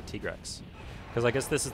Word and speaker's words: Tigrex: for me I guess my whole life I pronounced it tigrex my side but they actually told me as tika while we were recording this they said yeah it's actually tigress because I guess this